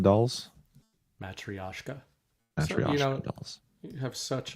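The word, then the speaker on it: матрёшка: Matriosco dolls. Matrioska.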